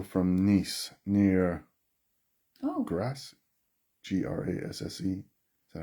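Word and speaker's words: Grasse: up the hill from nice near oh grass g-r-a-s-s-e is that how you pronounce that yeah grass i i haven't been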